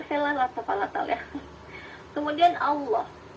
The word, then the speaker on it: Allah: Nah ini L-nya agak tebal. Ini pun Allah yang dilafalkan oleh orang Islam. Karena kalau kita mendengar bunyi Allah dalam yang diucapkan oleh orang Kristen, ia biasanya dilafalkannya menjadi Allah.